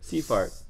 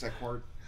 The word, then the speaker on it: Sequart: The company's called Seafart. No, Sequart. I said Sequart, and he corrected me, so I'm assuming it's Sequart.